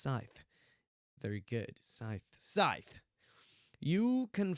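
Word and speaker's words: Sithe: Ooh, I go with Courtney Scythe, but the Japanese sounds more like Courtney Seethe. Seethe! As if she's, like, really angry all the time, ready to bubble over. It's pronounced Scythe.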